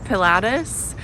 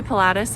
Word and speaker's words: Pilatus: you can go up there's regy and then Pilatus and we're going to do Pilatus I think so I'll definitely Vlog that tomorrow